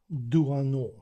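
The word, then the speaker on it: Doisneau: Перше, поговоримо про Роберг, е-е, Роберг Дуано, хоча тут є буква С, але вона не читається.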